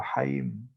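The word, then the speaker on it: חיים: escribe con 4 letras en hebreo que se pronuncian como Haim.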